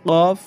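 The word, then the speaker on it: كاف: আর এই যে এখানে কফ কাফ এই কফটা কফ এইরকম করে বলতে হবে আর কাফটা পাতলা করে কাফ তো আশা করি এই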